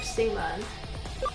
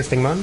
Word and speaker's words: Stingmon: Did you say Stingmon? Sting! Yeah, I was gonna say, you mispronounced it if you didn't say it like that.